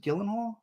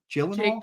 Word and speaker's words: Gyllenhaal: it was um enimy by how do you pronounce it Gyllenhaal Gyllenhaal Gyllenhaal Jake Gyllenhaal okay enemy it was like